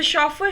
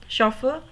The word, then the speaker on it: chauffeur: Third example, the chauffeur shaved his head. sh sound ch से भी आ रही है chauffeur, और sh से भी आ रही है shaved.